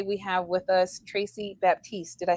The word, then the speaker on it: Baptiste: have with us Tracy Baptiste did I say it correctly uh Batiste the p is silent oh very nice um